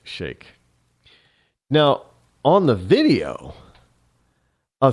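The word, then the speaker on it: Sheikh: the so-called blind Shake I know some people pronounce it sheep but it's actually pronounced Shake now on the video a three judge ninth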